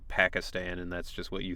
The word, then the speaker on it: Pakistan: something about being from Pakistan and which again that's another like American I know it's Pakistan but you grow up hearing it Pakistan and that's just what